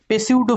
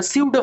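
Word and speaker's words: pseudo: হয় ফিকটিসিয়াস ফোর্স বা পেসিউডো ফোর্স বলা হয়, বা সিউডো ফোর্স বলা হয়। অ্যাকচুয়ালি উচ্চারণটা স্পেলিং লেখা হয় পেসিউডোর মতো, কিন্তু বলা হয় সিউডো ফোর্স।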